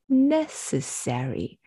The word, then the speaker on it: necessary: paying attention to intonation it's a four-syllable word with stress on the first syllable at the end of